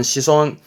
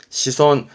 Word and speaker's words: 子孫: 바람에 대를 이어갈 자손의 손자 자손 부터 갑시다 발음은 시손 시손 독의 마고고 정도면 되세요 그다음 자손의 손자가 있으니